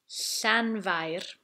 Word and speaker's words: Llanfair: So we'll start slowly and simply with Llanfair. You need to roll the R as well, although if you speak quickly it won't be as important.